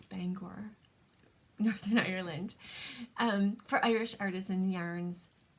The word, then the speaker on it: Bangor: of driving into Bangor I always said banger but I've been corrected that it's Bangor um for Irish Artisan